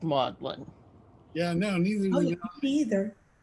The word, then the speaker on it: Magdalene: same in britain uh everybody knows i think that uh magdalene is pronounced maudlin but there are places where it is actually pronounced magdalene uh we used to